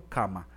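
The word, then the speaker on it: kamma: por ejemplo en karma karma no se dice karma sino cama dar mano dama siddharta no sida está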